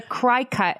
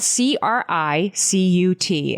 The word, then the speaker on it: Cricut: And we called it a cry cut.